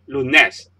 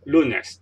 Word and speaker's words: lunes: the second last symbol for example lunes you don't say Loonette is lunes the stress is undone second last syllable here so once again